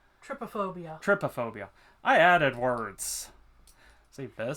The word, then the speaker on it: trypophobia: Tripodecaphobia? No, that would be, trypophobia.